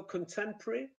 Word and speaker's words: contemporary: between the stressed syllables so contemporary originally five syllables but you can say it in such a way that it's got three syllables sport sounds like sport